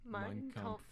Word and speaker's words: Mein Kampf: Mein Kampf.